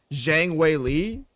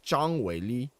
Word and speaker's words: Zhang Weili: So, in English, the way you would pronounce her name would be like just Zhang Weili, Zhang. But the way you pronounce her name in Chinese is like Zhang Weili.